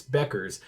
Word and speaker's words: Bueckers: And I was like, I I'm gonna say it and then it's not going to come out, but it's Beckers.